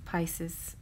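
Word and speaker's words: Piscis: form, but it's still it's pronounced Pisces and not Pisces, but Pisces. So it's Vesica Pisces.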